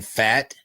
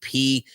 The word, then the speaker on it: Pfaadt: Right now we've got, I love this name, Brandon Pfaadt, I think is how you say it. Pfaadt.